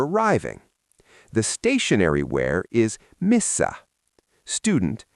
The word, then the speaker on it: Missä: The stationary where is misa. Student how do you say where or at or in misa.